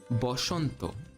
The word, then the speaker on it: Boshanto: Therefore, the Hindi word Vasant, which in Sanskrit would be Vasanta, in Bengali becomes Boshanto.